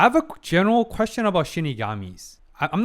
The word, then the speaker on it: Shinigami: I have a quick question about Yoke or Shinigami's. Yes, I'm finally correcting my misprononunciation. I know I know I mispronounced with Shigami, but Shinigami as some people suggested I think